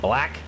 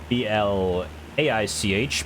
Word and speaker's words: Blaich: I think we're passing over the little town of Blaich. B-L-A-I-C-H.